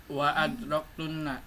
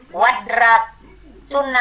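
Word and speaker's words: وأدركتن: Wa adraktunna. Iya, nggak boleh jadi wadraktunna, nggak boleh, harus dibaca wa'ad.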